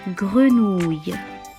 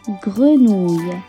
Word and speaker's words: grenouille: Et pour le son y final, essayez de le prononcer comme le début du mot anglais yes. Allez-y, on répète, grenouille.